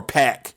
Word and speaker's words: PAC: me up andrade versus pock sign me up or pack is the pri correct pronunciation sign me up